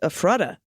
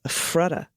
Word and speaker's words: Ephrata: Ephrata is pronounced Ephrata, with the stress on the FF, Ephrata.